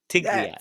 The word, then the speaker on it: Tigrilla: So, Tri Tigria, Tigria, the Spanish pronunciation, Tigria.